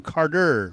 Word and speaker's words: Carter: hard to say, and you're not really saying Carter, you're saying Carter with a D.